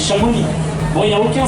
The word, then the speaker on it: Chamonix: Au Chamonix s'écrit avec un X à la fin, on ne dit pas Chamonix, on dit Chamonix.